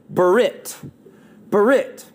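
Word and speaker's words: ברית: an old testament hebrew word that is actually pronounced this way berit berit and what it means is it means a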